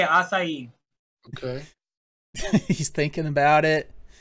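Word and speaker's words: açaí: That's how you say it, acai.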